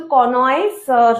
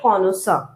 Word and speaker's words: connoisseur: এটা কিন্তু কনয়েসার নয়, হ্যাঁ। অনেকে উচ্চারণ করেন ওইভাবে, কিন্তু এটা অ্যাকচুয়ালি উচ্চারণ হচ্ছে কনসার।